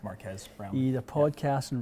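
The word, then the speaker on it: Marques Brownlee: I think it's pronounced Marquez Brownlee.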